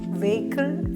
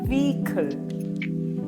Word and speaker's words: vehicle: വെഹിക്കിൾ അല്ല, വീക്കിൾ വീക്കിൾ വീക്കിൾ. The stress is on the first syllable.